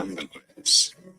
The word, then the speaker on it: ambergris: More ambergris, ambergris, Ah, ambergris.